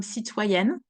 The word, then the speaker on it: citoyenne: And we know that the E will make the consonant that is just before pronounce. Here, if we remove the E from citoyenne, the word ends with a double N, which cannot be in French.